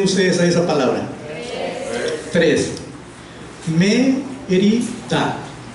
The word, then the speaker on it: Mérida: La primera sílaba es la sílaba fuerte, y a esa se le dice que es la sílaba que tiene el acento, es donde va acentuada, o sea, donde se pronuncia con mayor fuerza, es la primera sílaba.